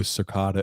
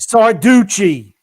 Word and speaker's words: Sarducci: Guido Circata. What is that? Sarducci. Sorry, I can't pronounce names.